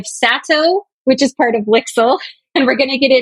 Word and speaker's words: LIXIL: LIXIL rhymes with pixel.